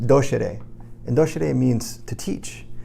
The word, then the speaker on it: docere: So the word doctor comes from the Latin word, which is pronounced docere, and docere means to teach.